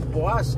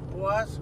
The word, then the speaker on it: Poás: asunto chada sí nos dirigimos especialmente al volcán poas así se pronuncia Sí bueno a si no es así ahí no disculpan nos corri aá nos corrigen sí es el volcán puas Que prácticamente Estamos a una hora casi 2